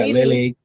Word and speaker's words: Lealea: And tries to pronounce the name of our boat. Whatever it is. Yeah. So Lealea. Yeah. Lealea.